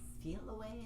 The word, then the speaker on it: Feliway: And she suggested it's called Feel Away, I think is how they pronounced it, but it's spelled Feliway.